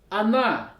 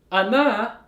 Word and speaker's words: она: When O is unstressed, ana, it sounds like a. So in this word, the stress is on the letter a.